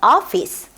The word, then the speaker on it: office: 자, 그러면 오가 내는 소리 office, only, 오피스 only 아니고 office, only 요 정도고요.